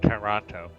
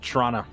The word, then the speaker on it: Toronto: you're really advanced uh you don't even pronounce it with the first t it's toronto or if you're from